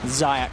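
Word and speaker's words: Zayac: I don't want to say his name wrong, that's why I keep saying Lich, but is it just Zayak? Zayak.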